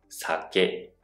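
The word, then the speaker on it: 酒: In the word SAKE, the sa is lower and KE has a higher pitch. SA↗️KE , the pitch goes up into the KE sound.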